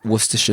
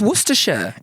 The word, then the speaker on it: Worcestershire: Savoury non-alcoholic cocktail traditionally consumed as a hangover cure consisting of a raw egg yolk, Worcestershire sauce, hot sauce, vinegar, salt and pepper.